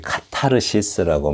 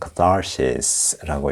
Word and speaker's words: catharsis: 네, 이걸 이제 우리 카타르시스라고 많이 읽죠. 영어에서는 catharsis라고 읽습니다.